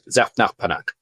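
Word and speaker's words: Zaphnath-Paaneah: If you ask a rabbinical student, they'll pronounce it like that, Zafnaf Panach.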